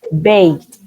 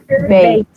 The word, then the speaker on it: baked: So, Sophia, how do you pronounce this verb? But. Baked. Baked.